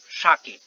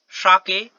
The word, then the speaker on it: sake: had a cup of sake. काश कि मेरे पास एक कप शाके होता. और शाके means a popular Japanese drink. Sha is pronounced like fa in father and K rhymes with way, यानी कि फाके.